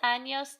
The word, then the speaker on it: años: ¿Cuántos años tienes? This is another word where we have a little bit of a different pronunciation. We have to make sure we say an N-Y sound.